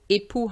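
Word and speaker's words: époux: spouse so be careful ippu has an x at the end but it's silent whereas with ipos we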